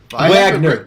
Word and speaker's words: Wagner: spell what you're saying Wagner Wagner Wagner okay yeah but the W is pronounced with the V sound yeah the Russian way I think smoke Steve